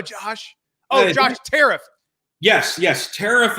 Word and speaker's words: Tariff: Yes, Tariff is the correct pronunciation of the last name, Mark.